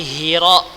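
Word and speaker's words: حراء: Gha ya tetap dibaca gha, hi tetap dibaca hi, jangan ghari Hira dibaca ha besar. Ya, ini dapat merubah arti.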